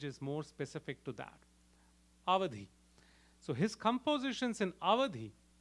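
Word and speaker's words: Awadhi: scholarly in the language of avadhi or otherwise pronounced as Audi avadh is a region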